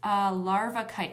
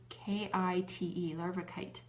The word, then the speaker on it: larvikite: It's larvikite. I'll spell it for you. Am I spelling this wrong? L-A, hold on a minute. Let me check my note here. Yes, I believe it's L-A-R-V-A-K-I-T-E, larvikite.